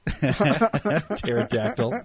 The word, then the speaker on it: pterodactyl: Because the P is silent. Pterodactyl.